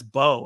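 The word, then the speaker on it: Beau: Bo is afraid but Bo is spelled b-a-u and I've never heard that word before or that name or pronounced like that so the whole time I kept saying view was afraid view is afraid view is afraid through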